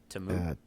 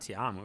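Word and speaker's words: Ta'amu: Tamu? Yeah. It's not Tiamu, right? It's Tamu. Jordan Tamu.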